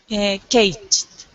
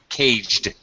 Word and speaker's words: caged: Caged. Caged. The D sound.